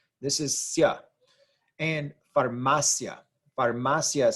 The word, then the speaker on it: farmacia: I and the a the I and the a blend together to form one syllable one sound this is yeah and farmacia farmacia is how you actually